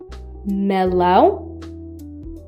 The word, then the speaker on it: melão: It indicates when a word should be pronounced with your nose. This is exclusively used on A and O. Melão, melão, which means melon.